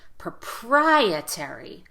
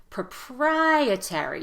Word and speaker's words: proprietary: how to pronounce it you really want to stress the second syllable in proprietary that's the strongest syllable so make the vowel louder and longer here proprietary proprietary you hear how my